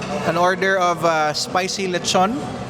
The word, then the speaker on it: lechon: We have uh an order of uh spicy lechon. So, as I Yeah, I should start by pronouncing it correctly. Lechun.